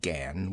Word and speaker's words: Gan: do you belong to she pronounced it Gan with only a suspicion of a nasal sound I laughed I'm not